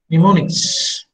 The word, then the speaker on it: mnemonics: Mnemonics. M is silent.